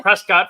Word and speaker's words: Prescott: college in Arizona so I know how to say it um that's Prescott for all of you non- arizonans so went to Prescott